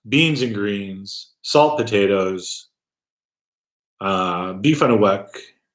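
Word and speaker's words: beef on weck: Chicken speedies, garbage plates, beans and greens, salt potatoes, beef on a wick. And I didn't pronounce that. It's not beef on a wick. It's on a wick.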